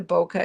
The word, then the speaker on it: bokeh: bokeh in there um I may be pronouncing that wrong apparently that you it's also pronounced bokeh um I've always heard it pronounced boka so either way uh either way works um designer paper back